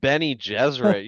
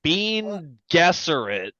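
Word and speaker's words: Bene Gesserit: Well, I mean, if you read Benny Gesserit, you're like Bean Gesserit.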